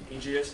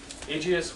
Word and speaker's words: Aegeus: There is a man, Aegeus, I think is how you would say his name.